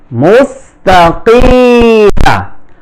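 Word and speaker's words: مستقيم: কি, মিম জবর মা মুস্তাকিমা মুস্তা মুস্তা কিমা। এখানে অনেক উচ্চারণ করতে কিমা বলে, এটা ভুল উচ্চারণ, মুস্তাকিম।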